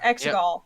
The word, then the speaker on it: Exegol: With Lando's recruitment, the Star Speeder arrives at is it Exegol? Is that how it's pronounced? Yeah. Exegol.